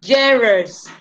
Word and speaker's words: genres: Entonces, pronunciación, genres, significa géneros.